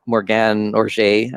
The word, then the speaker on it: Morgane Oger: has been for a number of years, named Morgane Oger, I believe is how her name is pronounced.